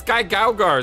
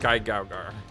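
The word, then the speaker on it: GaoGaiGar: It's Guy Gaugar, so I want to say Gao, and it's Guy, because his name's Guy. You realize you've been saying the syllables out of order, right?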